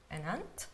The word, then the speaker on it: ant: He works like an ant. Very good. An ant. Now be very careful to pronounce it properly, because otherwise it sounds like tia, aunt.